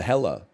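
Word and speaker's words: Hekla: I had no concept I have been to hella and it's again it's an it's an it's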